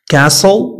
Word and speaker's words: castle: T is not pronounced in these common words. ملي كنقول common words يعني كيكونوا فقط معروفين وكنخدموا بهم دائما. كتكونش عندهم واحد القاعدة ثابتة castle not castle christmas not